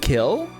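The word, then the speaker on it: kiln: that word Kil Kil oh the silent is the silent oh so it's just kill you don't say kill just kill well okay that's interesting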